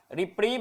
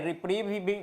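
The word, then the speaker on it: reprieve: कहते हैं रिप परिन रिप्रीव या फिर रिप जो भी आप इसको प्रोनाउंस करें रिप्रीव ज्यादातर बोला जाता है और इसको कहते हैं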